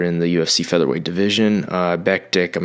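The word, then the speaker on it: Mirsad Bektić: You've got Mirsad, I think you say it Bektik, I think. I definitely am a fan of this guy, but I feel like I've heard people say his name differently in different places. But I'm going to go with Mirsad Bektik, and that's versus Ricardo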